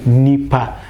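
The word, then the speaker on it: onipa: O, nipa. But we actually elite this one in the pronunciation and just say nipa for both singular and plural.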